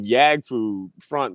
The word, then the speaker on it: Yaggfu Front: Usually, they try to make it more Asian, like Yaggfu Front, or sometimes they go Yag like Yag, or they go Yagfu Front.